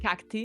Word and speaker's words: cacti: For cactus, the plural is cacti. cacti. Cacti. Okay, the pronunciation would be okay. Exactly. Yeah. Okay. So I mean, obviously, it's an anglified pronunciation of the Latin ending.